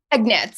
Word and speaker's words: Egnatz: And it's Egnatz, is that right? Egnatz, yep. Good, I pronounced it right.